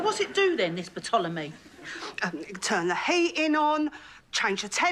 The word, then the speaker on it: Ptolemy: The P is silent, as in psychopath, Sharon. Why is it silent? But it's from the ancient Greek. They had silent P's.